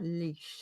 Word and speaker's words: Laois: Oh, Dermot says like a dog leash. So it's like leash. Oh, leash. Leash. And it's spelled Laois.